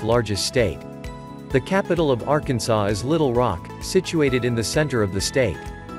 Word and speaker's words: Arkansas: For a long time there was a debate whether to pronounce the state's name in the French fashion, making the last S silent, or to pronounce it in a similar way to Kansas. This was eventually settled in 1881 as the former, and has since been pronounced as Arkansas.